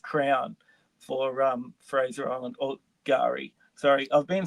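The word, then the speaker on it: K'gari: The official Aboriginal name is Gari. The K is silent.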